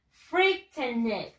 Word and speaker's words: frightened: Con la D al final.